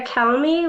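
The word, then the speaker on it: Calme: My name is Calmy. Last name is spelled C-A-L-M-E.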